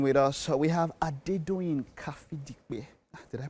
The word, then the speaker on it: Kafidipe: We have Adedoyin Kafidipe. Did I pronounce that well? Yes. I did. You did. I did not try. I did not. Pronounce it. Kafidipe.